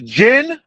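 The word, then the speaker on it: djinn: Again, the jinn, the jinn, the D is silent, like in the Django.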